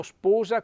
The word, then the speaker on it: sposa: moiér e la moglie mi raccomando sposa con l'accento chiuso mayer anche l'accento chiuse